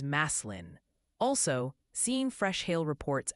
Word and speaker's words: Massillon: And Massillon is Maslin.